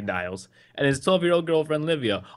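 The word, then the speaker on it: Niels: with their 15-year-old son now it's spelled n i e LS so it has to be Niles and his 12-year-old girlfriend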